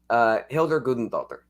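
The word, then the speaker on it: Hildur Guðnadóttir: Hildur Gudendottir. Good pronunciation.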